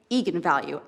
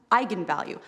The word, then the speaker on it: eigenvalue: the director said yes that is how you pronounce it so i went out there and said that's right eagan value and then apparently the internet went nuts when it came out because apparently it's pronounced eigenvalue that's how you're supposed to say it and